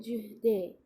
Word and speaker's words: jeudi: और जब अपन इसकी प्रोनाउंसिएशन करते हैं तब कहते हैं जुहदे.